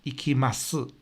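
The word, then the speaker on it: 行きます: So, Osaka ni ikimasu. We don't pronounce the s sound so much.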